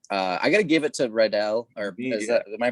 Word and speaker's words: Riddell: I gotta give it to Riddell, or am I pronouncing that right? Riddell.